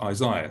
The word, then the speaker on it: Isaiah: As we often see in our English New Testaments, the word Isaiah, you don't pronounce the H at the end, it's just Isaiah.